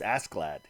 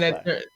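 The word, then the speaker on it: Askeladd: I think it's just Asklad. Right? I mean, it's just Ask and then the E and then Lad. So, like, Asklad. Like, almost like Affleck.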